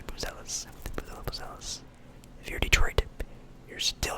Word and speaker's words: Buzelis: I've heard it in a couple different pronunciations. I'll say Buzelis.